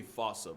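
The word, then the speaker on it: fossa: Bane to lemurs everywhere the fusa I'm sure it's actually fossil but the day I pronounce it like that is the day I lay my childhood to rest the Foos is pretty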